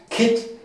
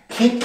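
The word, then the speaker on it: คิด: Ja, jetzt hier die Doppelschreibung vom D, so wie beim deutschen Wort wenn. Das sagt uns also, okay, das E muss kurz ausgesprochen werden. Kit. Kit und Kit heißt denken, ja?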